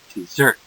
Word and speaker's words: dessert: Dessert. This is always. Dessert is always dessert. Means more food. Okay, the pronunciation. Look at the pronunciation. Which syllable, which part of the word is accented?